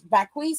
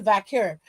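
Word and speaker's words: Vaquer: I think she called her Vakis. Sometimes I mispronounce Stephanie's name, but I know that it's close to Vakur, so I try to keep that as the baseline for what I say for her name.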